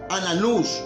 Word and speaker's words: Anás: Anás, hermanos, Anás también se puede pronunciar Ananús, amén, o Ananías, hermanos, amén.